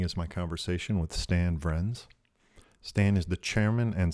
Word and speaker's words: Vriends: Vriends? Vriends. It's a Dutch name.